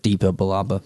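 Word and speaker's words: Depa Billaba: I think it's Deepa Balaba. Kanan says it in this episode. Yeah, he does. So it has a accent with it, but it's Deepa Balaba basically.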